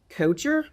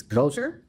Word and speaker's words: Kocher: Um secondly, have you always pronounced your name coacher? We have but technically I think it is coer. Well, some of them say cooker hand and it means cook. It is cooker or stove or something of that nature.